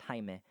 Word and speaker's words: Jaime: yeah um but blue beetle's character in uh jaime that's how you it's pronounced it's spelled jaime but it's pronounced jaime he he is a uh he is a